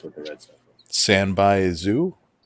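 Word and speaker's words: sanbaizu: Sanbai zoo. Spell it. SANBAI space ZU. Oh, I thought it was SEENBYAZOO.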